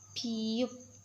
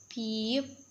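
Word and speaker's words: 피읖: Name is piyup. Piyup.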